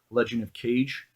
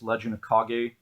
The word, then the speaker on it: Legend of Kage: and Legend of Kage, I believe it's pronounced. I used to always call it Legend of Cage, or I guess it's Legend of Kage, either or.